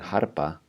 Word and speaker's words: Harpa: Like we're saying harpa, but we're devoicing that R.